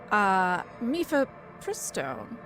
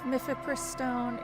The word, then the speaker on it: Mifepristone: Mifepristone, I believe is how you say it, which